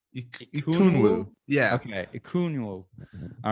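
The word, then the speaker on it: Ekwonu: How do you pronounce? Ikunwu. Ikunwu.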